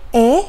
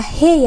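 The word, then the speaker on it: へ: kemudian diikuti dengan partikel eh ya untuk hiragananya adalah he ya teman-teman namun untuk partikel ini cara bacanya adalah e seperti itu kemudian ada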